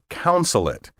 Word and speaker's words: consulate: These words are often mispronounced counsel and consulate, as if the first syllable were spelled C-O-U-N instead of C-O-N.